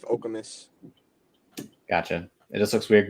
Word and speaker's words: Okemos: It's Chris, is it Okemos or Okemos? Okemos, but I feel like everybody says it different. Okay. I believe it's after a chief, Okemos.